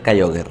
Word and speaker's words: Kyogre: estaba a dos puñeteros pisos de enfrentarme a Kyogre, o Kyogre, o como queráis pronunciarlo. Lo vamos a pronunciar Kyogre, ¿no?